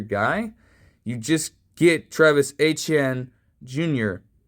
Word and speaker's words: Etienne: You just get Travis Etienne Jr. as he wants you to pronounce his name with it having Creole and, French patois style heritage.